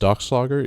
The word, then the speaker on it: Dachslager: Is it pronounced Dachslager? Yeah.